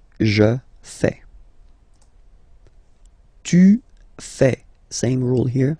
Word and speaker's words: fais: Je fais. Remember, final S not pronounced. Je fais.